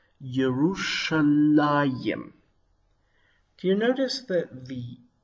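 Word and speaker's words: ירושלים: Hebrew Bible it is printed like this and pronounced yerushalayim do you notice that the hirak you should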